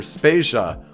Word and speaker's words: Spasia: is Joe Vader and I'm Peter spasia we're brought to you by Anonymous dinosaur and rhymes with Asia it's time to appreciate